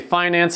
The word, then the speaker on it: finance: Now, I notice that some people say finance and others say finance, so don't get mad at me if I pronounce it differently than you.